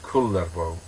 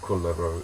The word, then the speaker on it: Kullervo: about a character called kulo which is my attempt to pronounce in Finnish they pronounce all the consonants in Finnish so you